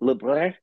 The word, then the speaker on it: Lebrun: Okay, so technically it's Lebrun, which is the actual French pronunciation, but I've anglicized it just to make it easier for everybody.